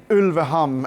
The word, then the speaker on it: Ulveham: It's called Ulveham, and I'm pronouncing it in Norwegian.